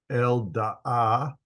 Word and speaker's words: Eldaah: The sons of Midian were Ephah, Epher, Hanoch, Avidah, Eldaah, two A's pronounced, both of them are pronounced.